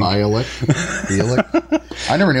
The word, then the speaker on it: Bialik: Yeah, Malik. I said Malik. Bialik.